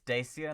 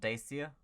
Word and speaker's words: Dacia: this now i wonder it's dacia not dacia great news the dacia